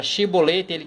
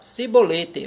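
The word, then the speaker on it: shibboleth: a palavra shiboleth e quando o cara ia tentar falar a palavra shiboleth ele pronunciava sibolete ao oscar estão aqui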